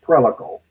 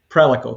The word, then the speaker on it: Prelical: It's properly pronounced Prelical. Prelical, because it's practical reliability, right?